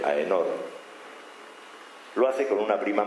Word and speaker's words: Aenor: Así que cuando se casa con Leonor de Inglaterra, con Aenor, que es la forma aquitana de pronunciar su nombre, Aenor, lo hace con una prima más o menos lejana.